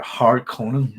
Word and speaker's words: Harkonnen: I think that's closer, but it should be a Harkonnen like that. But I'm Northern Irish, and the way we say things will be different anyway. So to me, I'm pronouncing it right, but I know, if you see what I mean, I'm trying to be harsh on the A and the O.